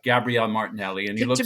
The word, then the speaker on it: Gabriel: HS is easy Martinelli but Gabrielle it just has to be Gabrielle because it's never gonna it's not g Gabriel has a kind of